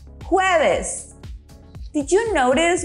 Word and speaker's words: jueves: Jueves. Did you notice we pronounce the J as if we were saying who, but a little bit stronger? So repeat after me. Jueves.